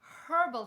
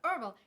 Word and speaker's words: herbal: excision so drinking water herbal tea not herbal herbal because there's an h in there so freaking pronounce it and then also like